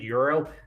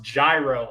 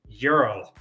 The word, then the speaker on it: gyro: and say it's pronounced gyro I'm like don't ever ever ever call it a gyro and they're like why I'm like it's pronounced Euro and they're like how